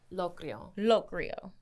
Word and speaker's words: Locrio: Locrio? Locrio.